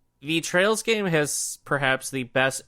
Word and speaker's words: Trails: I always want to say Trials, but it's Trails.